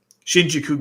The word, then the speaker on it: Shinjuku: They didn't even try to disguise it like poison gas like they did in I keep saying it wrong. The Shikina Ghetto, Shinjuku Ghetto. I keep doing that.